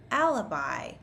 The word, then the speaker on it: alibi: So the final I is going to be pronounced like an I. Let's start with alibi.